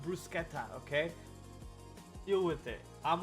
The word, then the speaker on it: bruschetta: It's brusqueta. It's pronounced brusqueta.